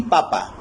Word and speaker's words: papa: Y en papa vemos que hay un acento, pero este no está presente, lo tenemos en la primera sílaba, ¿no?